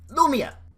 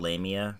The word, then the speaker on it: Lamia: is a new spell it's called no Meah it's actually called lame eeeh but don't worry about it Lamia looks like a freaking